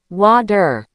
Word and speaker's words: water: But in the US and Canada, when a T is between two vowels, it often turns into a fast D sound. We say water.